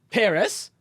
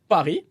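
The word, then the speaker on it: Paris: okay a couple example don't say peres say pari don't pronounce the s don't say salute say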